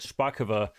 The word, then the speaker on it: Szpakowo: We're going to get on our Szpakowo, that's how you say it, Szpakowo map.